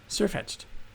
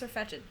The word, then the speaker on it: Sirfetch'd: Is it pronounced Sirfetch'd? I thought it was Sirfetch'd. Well, because Farfetch'd. It's just far-fetched. It's far-fetched? Yeah, because the word far-fetched.